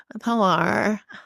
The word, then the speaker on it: Pilar: They're gonna call her Pilar, Pilar. In Boston, they say Pila.